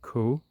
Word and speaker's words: Caux: You're just a few kilometers from the neighboring village of Caux, which is spelled C A U X.